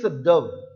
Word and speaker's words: dove: So this pronunciation is dove, P-O-V-E, dove. Do not tell it dove.